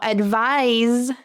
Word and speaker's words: advise: Now, advise. Advise. You should feel your teeth vibrate with the Z sound at the end.